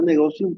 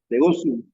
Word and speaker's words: negotium: Negotium, pero se pronuncia Negotium porque es en latín y la esa se pronuncia como es negotium. Negócium.